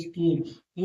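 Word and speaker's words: school: इ दिया है तो स्किल एस सी H double O स्कूल देखिए सी एच के बाद ओ दिया है डबल ओ दिया है तो स्कूल सी एस सी एच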